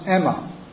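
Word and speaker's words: αἷμα: So my mantra was Aima, and Aima in Greek, in ancient Greek is pronounced Emma, and Emma means blood.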